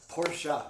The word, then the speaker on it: Porsche: You have to say Porsche. Yeah. I know Porsche. My dad drives a Boxster. It's 2 syllables. Porsche.